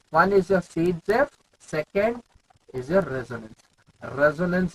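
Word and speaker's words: Zaitsev: Sage-Jeff is the pronunciation, Z-save is the name.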